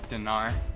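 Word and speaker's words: динар: You said it's pronounced it more with an E. Yeah, Dinar. it would be like dinar.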